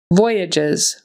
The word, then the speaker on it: voyages: the second syllable acude voyages voyages this time the accent is on the first syllable and again that g on the end there is pronounced like a j and the S is going to be pronounced like a z so voyages voyages derivatives derivatives so we